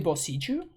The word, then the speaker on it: Boseiju: E plus I in Japanese will stretch the E vowel though. Okay, so it has to be Boseiju. It's actually Boseiju. Like that's how it's pronounced.